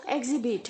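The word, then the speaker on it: exhibit: वैसे ही प्रोनाउंस करेंगे ए के आगे जो एक्स है वो जी की तरह साउंड होगा और जो ह है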